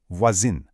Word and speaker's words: voisine: Because voisin is feminine and adds an e, that nasal sound totally disappears and becomes a hard in, voisine.